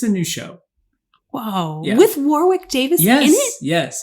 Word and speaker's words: Warwick: I just kept noticing like these like um Warwick oh I'm gonna get his name wrong Warwick thank you Warwick Davis yeah and I was